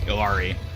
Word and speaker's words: Illari: control Point maps are you've seen some people pronounce it like Hillary like Hillary I guess that